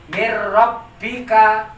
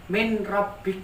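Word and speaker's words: مِن رَبِّكَ: ini maka dibacanya mirrobbika, tidak boleh dibaca min robbik, nggak boleh.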